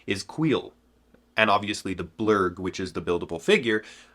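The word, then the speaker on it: Kuiil: After about 10 minutes of looking it up and looking at the pronunciations, I have finally figured out that this guy's name is Queel.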